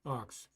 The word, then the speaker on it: aux: is not an acronym it stands for auxiliary and is pronounced Ox correct okay yeah okay